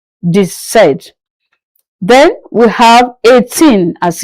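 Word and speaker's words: sept: Seven is set without the P pronounced set.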